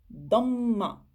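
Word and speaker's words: ضمة: Damma. Le dad, je le prononce normalement. Do. Et le mim, vu qu'il y a shadda dessus, j'insiste. Damma. Damma.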